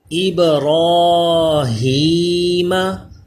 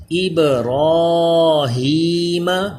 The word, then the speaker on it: ابراہیم: ابراہیم. را کے اوپر کھڑا زبر ہو پھر بھی پر رہتا ہے اس لیے اس کو موٹا پڑھ رہے ہیں. ابراہیم. با بھی حروف کلکلا ہے اس لیے کلکلا بھی کر رہے ہیں.